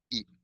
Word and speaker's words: eaten: This is the pronunciation like when you say Manhattan, when you say important, when you say um eaten.